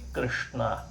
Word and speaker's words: ಕೃಷ್ಣ: ಇದು ಯಾವುದು ಸರಿಯಾದ ಪ್ರೊನೌನ್ಸೇಷನ್, ಸರಿಯಾದ ಉಚ್ಚಾರಣ ಕ್ರಮ ಅಲ್ಲ. ಕ ಅದು ಕಂಠಾಕ್ಷರ, ಶ ಅದು ಮೂರ್ಧನಾಕ್ಷರ, ಇಲ್ಲಿಂದ ಬರಬೇಕಂತೆ ಮೂರ್ಧನಾಕ್ಷರ. ನ ಇದು ನಮ್ಮದೇ ಅನುನಾಸಿಕಾಕ್ಷರಗಳಲ್ಲಿ ಇದೊಂದು ಣ. ವರ್ಗೀಯ ವ್ಯಂಜನಾಕ್ಷರಗಳಲ್ಲಿ ಟಕಾರ, ಟವರ್ಗದ ಕೊನೆಯ ಅಕ್ಷರದಲ್ಲಿ ಬರೋ ಣ, ಅದನ್ನೇ ಹೇಳಬೇಕಾಗ್ತದೆ.